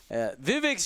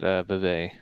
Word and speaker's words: Vivek: I mean, Vivek's showing he's locked in.